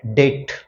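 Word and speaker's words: debt: आप यूज करते चलो B silent here डेट डेट loan okay will she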